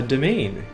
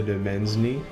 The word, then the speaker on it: domain: pronounce it properly cuz I was always calling it like the demeny or the demen but it's this is domain that's how you say that I think at